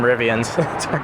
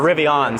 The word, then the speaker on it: Rivian: Yeah, time to get some Rivians. Or Rivians, sorry, we gotta say it right.